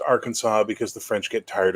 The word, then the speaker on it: Arkansas: the French which is spelled Aransas but is pronounced Arkansas because the French get tired of saying words